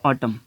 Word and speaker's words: autumn: मिसाल के तौर पे हम वर्ड लिखते हैं ऑटम, AUTUMN। अब देखिए ना कि N जो है ना, N यहाँ पे साइलेंट है।